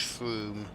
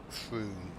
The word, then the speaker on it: Frome: Typical English place names pronounced Frome, but only one O. Frome.